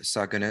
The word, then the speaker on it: Saguna: help me with the pronunciation, Nirguna Brahman and Saguna Brahman, right? Yes, that's right. right. I say that better than I did? Nirguna and Saguna is good.